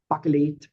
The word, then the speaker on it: Bakelit: But uh I like the the sound of the name and it's buckle and I know Americans or English people cannot pronounce it.